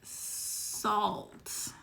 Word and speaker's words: Saalt: I recommend the brand Salt. So it's spelled, I'm writing this down as she says it. Brand SAALT.